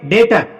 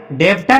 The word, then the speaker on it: debtor: डेटर। डेप्टर नहीं पढ़ेंगे क्योंकि बी के तुरंत बाद टी आया है, टी को पढ़ा नहीं बी को पढ़ा नहीं जाएगा, इसको डेटर पढ़ेंगे, और डेटर का मतलब होता है कर्जदार।